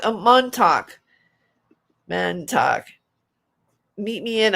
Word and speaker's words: Montauk: Man talk. Is it pronounced man talk? Montauk.